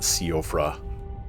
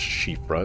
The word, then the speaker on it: Siofra: It's not Siofra or anything like that. It is pronounced Siofra, as far as I know.